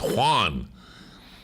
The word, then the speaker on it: Juan: It's not one. It's Juan. Get that nasal in there.